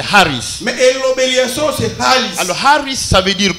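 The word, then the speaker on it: χάρις: Ça s'écrit Haris, ça se prononce Haris, mais on écrit comme Charis. Mais la prononciation correcte c'est Haris.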